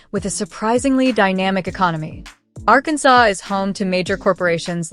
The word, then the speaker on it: Arkansas: For starters, it's legally required to pronounce the state's name as Arkansas, a rule actually enshrined in an 1881 state resolution to preserve its historical French pronunciation.